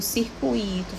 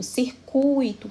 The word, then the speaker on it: circuito: Em todas essas palavras, a sílaba forte vai estar no tui, mas especialmente no U. Então, é gratuito, circuito, fortuito, intuito. Então, essa é a regra que se aplica a essas 4 palavras. O U é sempre pronunciado mais forte no ditongo.